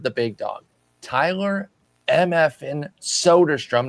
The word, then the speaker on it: Soderstrom: But we're going to start with the big dog, Tyler Mfin Soderstrom, not Solderstrom as I pronounced it back on January 17th